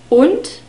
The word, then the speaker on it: und: Und is and und. We have a short U sound in this word, the O sound, und, and the D is spoken like a T again. Und.